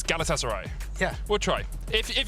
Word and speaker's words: Galatasaray: I just had a couple of tweets saying, "Don't say Galatasaray." So, it's Galatasaray.